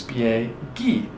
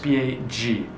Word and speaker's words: spieghi: In the to form, it's spieghi. Well, if you don't have that aka in there when we spell it out, it would be pronounced spiegi.